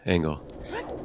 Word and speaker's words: Engel: And we are joined now by Engel. Welcome in, GG's. Yeah, Am I pronouncing that right? Yeah, Angle.